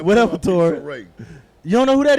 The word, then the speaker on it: Issa Rae: Issa Rae. Is a Ray? Issa, it's not Issa Rae like it's a ray of sunshine.